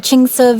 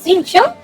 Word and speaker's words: Xingqiu: A book collector who lives in Xingqiu village.